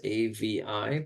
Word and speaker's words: Avi: It's three letters, A V I, pronounced Avi.